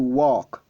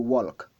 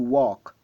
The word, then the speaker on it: walk: Le L est silencieux, on ne le prononce pas. To walk, to walk. On ne dit pas to walk, on dit to walk.